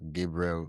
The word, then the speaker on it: Gabrielle: Is it Gabrielle or So it's Gabriel, Oh, because I was named after an archangel, and most people oh, call me Gabe, which is really oh.